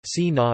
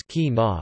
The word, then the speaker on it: China: In the northern varieties of Standard German, it is c, while in southern varieties, it is k, and in western varieties, it is, for instance in China, si na versus ki na versus I na.